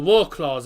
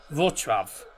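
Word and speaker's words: Wrocław: stadium in V in Vrav the Tinski Arena in Vrav or Warclaw everyone's going to call it but it's pronounced Vrav cuz uh it's the uh Polish pronunciations. W is pronounced with a V.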